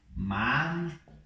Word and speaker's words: manzana: Seria manzana. Ok? Manzana. Eu estou colocando a língua para fora aqui no Z.